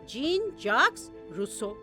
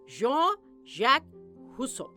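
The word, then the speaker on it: Jean-Jacques Rousseau: अब इनका जो नाम है वो एक्चुअली जब हम फ्रेंच तरीके से या फ्रेंच प्रोनाउंसिएशन से बोलेंगे वो होगा जॉन जैक रूसो, मगर इनको जीन जैक्स रूसो भी कहा जाता है।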